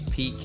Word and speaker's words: Pique: So one of these is Pique, or P-I-Q-U-E. I guess it's pronouncing it right.